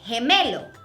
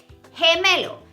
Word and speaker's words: gemelo: What happens here is that G, when it's followed by an E, the sound would be he, like gemelo, twin, gemelo.